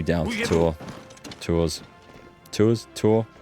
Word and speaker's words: Tours: the U Down tour tours tours tour I don't know it's pronounced I'm sure not twers that's that's how yorman pronounces it right cool okay and